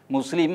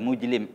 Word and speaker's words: മുസ്ലിം: മുസ്ലിം എന്ന് പറയാൻ അവർക്ക് പറ്റില്ല, മുജ്ലിം എന്നൊക്കെ പറയും.